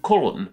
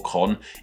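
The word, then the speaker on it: Köln: German city of Cologne in German this city is called colon once again apologies about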